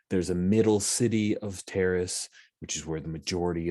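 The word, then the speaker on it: Taris: levels of terrace t-a-r-i-s i say terrace because like paris i believe that's how it's pronounced in nicely old republic i just reinstalled that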